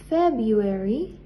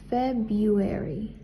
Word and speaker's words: February: January, February, la R es muda, por lo tanto no se pronuncia. February, March, April, May, June, July, August, la U es muda, the U is silent.